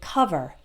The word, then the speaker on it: cover: word cover the oh it's an O but we don't take over or call vert we say cover uh uh cover other